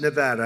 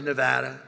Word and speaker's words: Nevada: I want to come to a state known as Nevada. Has anyone ever heard of it? And don't ever mispronounce the name.